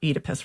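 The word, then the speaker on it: Oedipus: So for instance, um this summer I read Sophocles's Edipus Rex or Edypus Rex is the way all the British classicists pronounce it.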